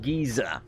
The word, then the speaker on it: geyser: the Relan fill abyssal géza or geyser I believe we pronounced a geezer in the UK so I'm gonna go with geezer but I don't know so